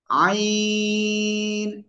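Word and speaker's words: ع: আছে অক্ষরের নাম হলো আইন চারি লিফট টেনে পড়তে হবে ওকে তাহলে এই অক্ষরটা কি হবে গলাটা চেপে চার লিপ টেনে আমরা উচ্চারণ করবো কোন বাতাস বের করা লাগবে না এটাই আইন আইন সবাই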